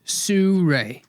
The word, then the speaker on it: Sirui: Well, the University of Google suggests it's Sue Ray.